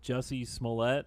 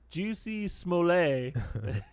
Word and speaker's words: Jussie Smollett: he talks about the jussie Smollett remember you know him the but cuz the way it's spelled he calls this is this French guy juicy small a everyone has you can